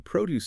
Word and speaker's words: produce: Emphasis on the first syllable.